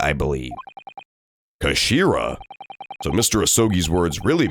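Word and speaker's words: 頭: and nothing was happening it's written as head in Japanese but it's pronounced as Kashira I believe Kashira so Mr asogi's words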